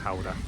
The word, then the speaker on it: Gouda: Yeah, well, in the UK you call it Gouda, Yeah, the cheese. the home of cheese. Yeah. But it's actually pronounced Howder.